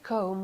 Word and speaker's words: comb: every day Lina I comb my hair I comb my hair I comb my hair B here is mute it's not pronounced yes yes I comb